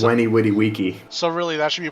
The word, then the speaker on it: veni vidi vici: And also V makes the W sound in Latin. Did you know this? Yes, So Veni Vidi Vici. He says Weni Witty Wiki.